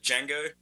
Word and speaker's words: Django: development so sense Joff is the D silent like in the movie The I believe it is okay I've always pronounced it D Jango um and I think